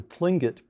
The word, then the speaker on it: Tlingit: chicago noted for his field work with the tlingit people did i pronounce that correctly yes got it the plinget